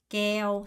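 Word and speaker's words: kéo: 모음의 법칙을 알게 되겠지만 얘는 에어가 아니에요 에어가 아니라에 오입니다 그래서 에오 에오 하고 발음 돼서 깨 깨오 성조 올려서 깨오 깨오 깨라고 합니다 자 깨는 여러분 외우는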